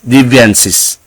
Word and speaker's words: deviances: for the word deviances it should be pronounced div devian deviances now let's go to the